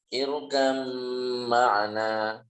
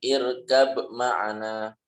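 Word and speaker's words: ارْكَبْ مَعَنَا: Nah, contoh yang pertama adalah irkam ma'ana. Irkam ma'ana. Ini dalam bacaan kita pun juga dibaca idgham, ya teman-teman. Irkam ma'ana, bukan irkab ma'ana, tapi irkam ma'ana.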